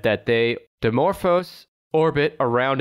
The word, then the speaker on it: Dimorphos: into the uh demo how do you say dimorphs dimorphos is that how you say dimorphous yeah that's the asteroid's name